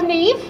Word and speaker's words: Niamh: uh next i would love to welcome on neve simpson who's pronounced that they them oh hi everyone this is terrifying my name is neve hi nice to meet you uh my pronouns